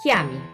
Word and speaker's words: chiami: look at the sound c-h-i in italian is pronounced ki like in chiami c-h-e is pronounced que